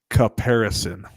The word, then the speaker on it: caparison: So it's caparison. It's CAPARISON. Mm-hmm. And a caparison is, you think knight in shining armor, right? A caparison is the blanket that goes over the horse